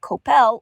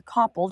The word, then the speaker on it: Coppell: Crunchyroll is in a town called Coppell, or Koppel, depending on how you pronounce it.